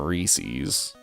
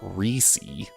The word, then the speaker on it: Reese's: I I it blows my mind that people call them Reese's Reese's. That name is Reese, not Reesei.